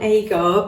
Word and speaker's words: Agar: I know how you pronounce this one, Aar. Because that is actually my maiden name, which is a really, really unusual name. So, aar is a AAR. It's a type of seaweed, and from that seaweed,